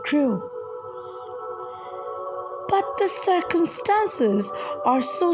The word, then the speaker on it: Crewe: They pronounced it Carew instead of Crew."